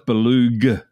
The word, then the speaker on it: Belug: And so, but no, it's Belug. And you actually pronounce the G, the G.